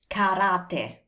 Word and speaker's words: karate: In English this is karate, in Italiano is karate.